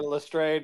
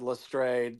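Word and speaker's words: Lestrade: By the way, these movies can't make up their mind about how that name is pronounced. Movie to movie. It changes. I've always said Lstrad.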